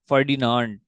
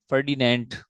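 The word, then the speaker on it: Ferdinand: अगर इसमें इजाफी करूं, मैं इजाफा करूं तो फर्डिनांड, ठीक है, एक है बंदा, इसका नाम है फर्डिनांड, फर्डिनेंट, कुछ भी प्रोनाउंस कर लें, ब्राउन।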